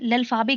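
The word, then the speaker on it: l'alphabet: इसका उच्चारण लल्फाबे किया जाता है। याद रखें कि लल्फाबे के अंत का जो उच्चारण है उसमें ए साउंड आता है, यानी कि ई पे, तो क्योंकि हम ई को ए कहते हैं इसलिए ए साउंड आता है, ना कि टी जैसा कि इंग्लिश में आता है।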